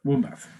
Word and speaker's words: Wombbath: Wombbath.